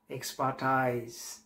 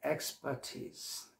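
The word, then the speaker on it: expertise: আমরা পরের শব্দটা এখন দেখব, সেটা হচ্ছে ভুলবশত আমরা শব্দটাকে বলে থাকি এক্সপার্টাইজ। অনেকে এটা বলে। এখন এই এক্সপার্টাইজ, এটা কি সঠিক শব্দ উচ্চারণগতভাবে? না, স্যাডলি ন। উচ্চারণটা হচ্ছে এক্সপার্টিজ, এক্সপার্টিজ, এক্সপার্টিজ, নট এক্সপার্টাইজ।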